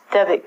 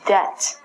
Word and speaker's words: debt: debit card debit card but this word is different this word is debt debit is actually there we go de bi T we have to say the BI T when we say give it but this one is debt and if you use